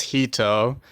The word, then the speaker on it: Hito: Hi, my name is Hito. It's spelled as Hito. It sounds like mojito, but without the mo.